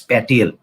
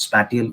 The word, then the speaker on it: spatial: go into is that the word spatial s p a t i a l i have seen good students pronouncing it as patel no it's not spatial it's spatial the tea is a bit silent here it's not you don't stress the tea to see make your